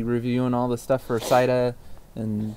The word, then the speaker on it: Cydia: We'll be reviewing all the stuff for Cida and... Cydia? Cida? Cydia. Have you found an official pronunciation?